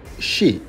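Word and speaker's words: 四: In Japan, 4 is pronounced shi, the same as death, so don't be surprised if you will see the floor number 4 missing in apartment building, hospitals, or even hotels.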